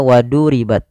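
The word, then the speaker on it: وضربت: Wadu ditebalkan huruf dha-nya, waduribat, waduribat. Kemudian pada lafal tak sukun, ini kita namakan dengan huruf yang dia memiliki sifat hamz. Cara membacanya, dia dan punya sifat syiddah. Yang pertama dia syiddah dulu, tertahannya suara, baru dia alirkan nafasnya. Waduribat, tidak langsung waduribat, tidak banyak-banyak, dan sifat hamznya dikit saja.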